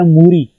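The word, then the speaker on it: 물이: Word है लिखने में, लेकिन जब भी आप प्रोनाउंस करेंगे कोरियन में ऐसे जो असल ये वर्ड है मूरी, मूरी जो रियल है वो इंग की जगह शिफ्ट होगा और जो इंग की फर्स्ट साउंड है वो साइलेंट है, तो इसलिए ये जो रियल है ये ऊपर चला जाएगा और ये वर्ड बन जाएगा मूरी।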